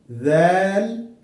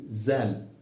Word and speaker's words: ذال: Ha, ha, kha, kha, dal, dal, ذال, ذال. You should not say zal.